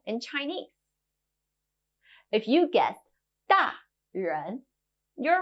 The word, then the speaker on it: 大人: If you guessed 大人, you're right. In Mandarin, we call grown-ups 大人, big person.